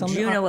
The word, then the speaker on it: Juneau: it right it's okay nobody pronounces it right that's that's not everyone no that's not nice Juno Alaska right you know right shouldn't